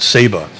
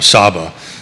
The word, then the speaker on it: Saba: to a different island called Saba or sabba depending on how you how you pronounce it and it's the tallest